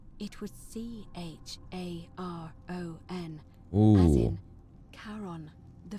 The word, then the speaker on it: Charon: pronunciation is a little off. The name you heard wasn't Karen. It was Charon.